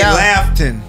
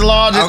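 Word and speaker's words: Laughton: I say Lafton. No. No. Oh, Lawton. No, it's Lawton.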